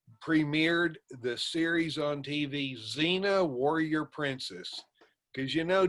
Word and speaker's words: Xena: i've ever seen that xena it's spelled x go e-n-a but you know the x in xena is silent like the p in swimming i get that